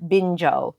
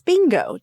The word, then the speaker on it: Bingo: I have seen Bluey, and as is heard around here, Binjo. Bluey and Binjo. That's how my nephew says it. It's not. It's bingo.